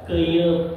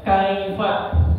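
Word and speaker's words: كيف: Dibacanya apa? Keyup katanya gitu. Kok jadi keyup? Apa artinya keyup? Yang berjalannya mundur ya. Nah, padahal dibacanya kaifa, bukan keyup ya.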